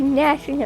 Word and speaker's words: gnashing: great gashing no yeah it's like the word new gnu that's a word yes or you know nasty ginork from spyro the g is silent a great gnashing of peace and their